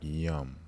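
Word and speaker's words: yam: for the heart chakra is spelled y-a-m but it sounds like yum Like This Love This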